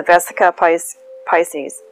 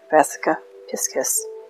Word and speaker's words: Vesica Piscis: how to pronounce this, the Vesica Pisces, Piscis, Vesica Piscis. I'm listening to your pronunciation every single time I say that, the Vesica Piscis, except that time.